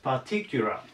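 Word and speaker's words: particular: パティキュラ。これアクセントが T に来ます。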